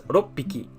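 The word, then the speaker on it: 六匹: If you put that together, so 6 small animals, then you would have to pronounce it not as roku hiki, but as roppiki.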